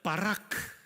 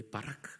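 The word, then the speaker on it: ברך: 단어가 아주 중요한 단어예요 히브리말로 이것은 바라라고 해요 한번 따라해 볼까요 바라크 예 바라크 여러분 발음이 거의 신대운 수준이에요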